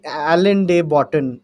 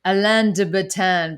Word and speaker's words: Alain de Botton: Alan de Botton, Oh Alian. yeah, yeah, yeah. Sorry, I I always say his name Alain de Botton because it looks kind of French to me.